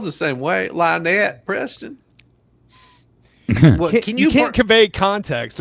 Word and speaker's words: Lynette: oh he pronounced it Linette yeah oh he pronounced it Linette instead of right well it's still spelled the same way Lonette Preston you can't convey